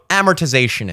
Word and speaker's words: amortization: It's too many syllables of a word to have the emphasis be on the first syllable. No, space it out. Amortization. That has swag. You can walk down the street like that. Yeah, I got amortization, not amortization. It's like you blow your wad on the first syllable and then the rest is just...